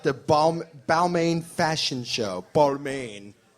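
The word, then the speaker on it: Balmain: Bal balain Fashion Show balain is how they say it in the fashion world and uh yeah some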